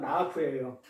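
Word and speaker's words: נאף: 이 티니아프의 기본 동사는 나아프예요. 나아프. 이 나아프는 이게 우리가 발음을 나아프라 하지만 글을 쓸 때는 기역, 니은, 히읗, 피읍 이렇게 하듯이 이렇게 눈, 알레, 페라는 자음 단어로 이렇게 쓰는 거예요.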